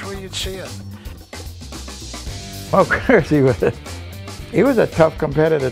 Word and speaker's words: Gherzi: I've heard a lot of people say Guernsey, and it's not Guernsey. I used to call it Guernsey, and I remember his wife saying, he's not a cow.